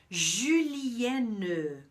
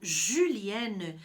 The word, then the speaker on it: julienne: E a minha dica de pronúncia para a palavra, para o termo julienne, é justamente esse U, tá? Eu falei antes que o OU, as duas vogais juntas, tem som de U.